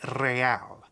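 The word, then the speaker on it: réal: you owe me 130 real he pronounces the r with a muck aristocratic accent the iir or inter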